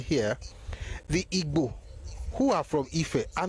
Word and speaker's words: Igbo: But they're not Igbos. And even the Igbos, even if they spell their name as IGBO, they still don't pronounce it like Igbo. They never use the word Gbo.